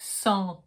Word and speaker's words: centre: Every time there's an E alone at the end of the word, it's only here to tell you that you have to pronounce the letter before, not the E. So you get centre.